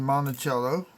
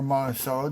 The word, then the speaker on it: Monticello: be the die cracks at the base of Monticello, or Monticello, depending on how you want to pronounce it.